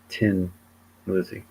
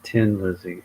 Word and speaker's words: Thin Lizzy: changed the spelling but because they were from Dublin it would still be pronounced Tin Lizzy so it was like